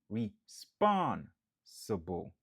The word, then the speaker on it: responsible: 4 syllabes, nap accentué sous deuxième nan. Responsible.